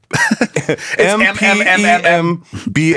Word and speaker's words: Mpemba: I can't pronounce this. It's Mtempa, M-P-E-M-P-A. M-P-E-M-B-A effect.